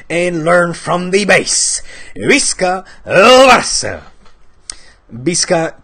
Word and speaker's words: Visca: Visca pronounced with a B, not with a V. That's a little attention for especially quote-unquote Barça influencers on YouTube that still say Visca el Barça, that have nearly 500,000 Barça supporters and cannot pronounce Visca correctly. It's Visca with a B, okay?